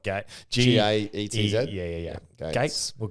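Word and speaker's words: Gaetz: So, Bill Gates? No, he's the one who said, I never know how to pronounce his name. It's spelled Gates.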